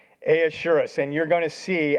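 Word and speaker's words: Ahasuerus: Um, Xerxes name, Hebrew name, uh, we were talking about this in our staff prayer meeting today trying to pronounce it. It's Ahashurus. Ahurus.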